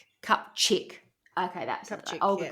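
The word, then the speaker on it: Kupczyk: nurse named Olga, and I think it's pronounced Kupzik. You'll know, Schmitty, if I tell you if it's spelled. It's spelled K-U-P and then C-Z-Y-K. Kupchik.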